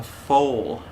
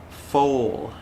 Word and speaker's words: foal: horse is called a foal foal the l the l sound is there on the end but it's very short full full f-o-l-e it